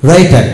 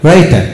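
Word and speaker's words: writer: যেমন রাইটার, ডব্লু আর আই টি আর রাইটার, এখানে ডব্লু উচ্চারণ হয়নি।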